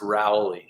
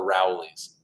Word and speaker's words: Rowley: um annabelle frost once again wants me to pronounce rowley i would say rowley not rowley um rowley